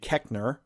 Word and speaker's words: Koechner: Well, one of them, who I should expect now because he's in everything, David Koechner.